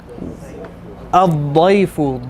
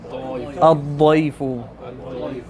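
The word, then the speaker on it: الضيف: Ad-dayfu. Dad. We need that hard da. Ad-dayfu. Yes. Should be difficult to pronounce, and then that's when you know you're saying it right.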